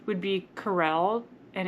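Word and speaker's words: Karel: So, a boy name would be Carell and it's K A R E L, but it's Czech and so it's pronounced Carl.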